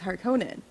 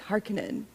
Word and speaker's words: Harkonnen: All right, I'm being picky of how you pronounce the last name because in the original movie it was Harkonnen. Yes. In this movie it's Harkonnen, and that took me out of the movie when I first saw it.